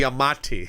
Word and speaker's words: Giamatti: Giamatti. Giamatti. There's no N.